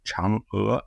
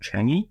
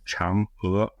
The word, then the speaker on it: Chang'e: The name of the Chinese moonlander program is pronounced Chang'e, not Changi, because that's the place in Singapore, but it's pronounced Chang'e, like an ER with an upward inflection.